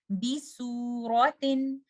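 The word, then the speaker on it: بِسُورَةٍ: So the proper pronunciation is bisuratin. And do not say bisuratin. Don't say su. This is sod. And try to recite this with the scene. Bisuratin.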